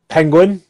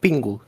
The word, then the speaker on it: Pingu: How do I pronounce that name? Penguin? Yeah, it's like Pingu.